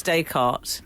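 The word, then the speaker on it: Descartes: saying the wrong that said desk and someone said oh actually it's day cart yeah do why you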